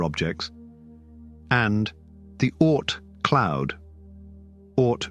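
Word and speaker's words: Oort: and the art cloud or rhymes with court because the objects we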